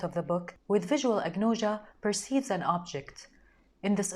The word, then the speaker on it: agnosia: eyes are impaired agnosia is a Greek term pronounced as agnosia which means unknown or the absence of knowledge